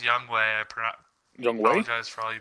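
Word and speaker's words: Younghoe: hoku's gonna win it i think it's pronounced young way i pronoun for all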